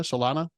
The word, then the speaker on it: Solana Beach: Is that how you pronounce it, Helena? Solana?